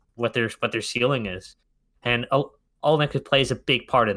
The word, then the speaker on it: Olynyk: And Olynyk plays a big part in that.